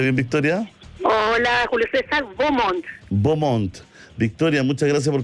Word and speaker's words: Beaumont: ¿Cómo se pronuncia bien, Victoria? Hola, Julio César, Beaumont.